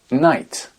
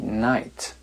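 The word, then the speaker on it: knight: et non pas kn un chevalier night ça se prononce exactement comme la nuit night no no no ko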